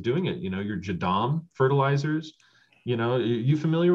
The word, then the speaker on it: JADAM: many ways of doing it you know your jadom fertilizers you know you familiar with that jim no i've heard of that just lately though tell me can you spell that oh yeah jadam it's a j-a-d-a-m and it's a style of